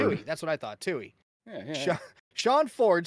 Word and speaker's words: Toohey: How do you pronounce this? What? Ford. Toohey. That's what I thought. Toohey.